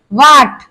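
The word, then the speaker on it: what: वाट, तो हमने वाट, तो इसमें हमारा एच साइलेंट हो गया है। क्यों हो गया है? क्योंकि डब्लू आ गया है एच से पहले, और एच के बाद ए वॉवेल भी आया है।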